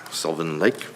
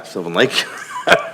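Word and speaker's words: Sylvan Lake: uh last week in Svin Lake. No. Yeah. Silven Lake. I kept saying it wrong and then I said it right the first time there.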